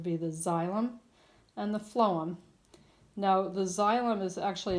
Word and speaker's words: phloem: memory helper is that the phloem has that F sewn in the beginning although it's spelled as a pH but you think food phloem both says the F sound it carries the food